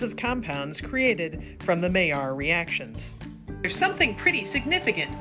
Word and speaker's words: Maillard: Yep, it's pronounced Maillard.